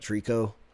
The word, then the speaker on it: Trico: games take place in, if you think about it, Trico, like it's spelled the same way.